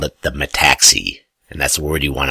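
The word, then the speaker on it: metaxy: of the Greek philosophers Plato called it the Mattacks II and that's where you want to understand and remember my taxi and I'm pausing I'm pronouncing it correctly M ETA X Y it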